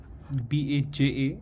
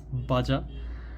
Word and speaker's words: Baja: BAJA is not Baja. And this is for the Indian audience, and you know, even when I was very new to this, when I was a kid, I pronounced it as Baja, but it's Baja.